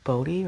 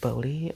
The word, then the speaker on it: Bodie: Is it Bodie? I should know this because I'm from California and this is in California. Don't judge me, guys. I do have 2 college degrees. Just sometimes I'm like, how do you say that word? The town was founded in 1859 after 2 prospectors, here we go again, Waterman Bodie, oh, it's Bodie, thank you.